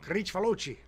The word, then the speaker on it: Kricfalusi: With so that's where that name Kricfalusi comes from. Kricfalusi.